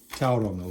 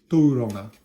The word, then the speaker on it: Tauranga: He lives down Tauranga, or Tauranga, as is the correct pronunciation.